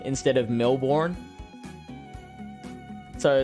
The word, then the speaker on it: Melbourne: I hope I am pronouncing that right. Just like we try and instruct Americans to say Melbourne instead of Melbourne.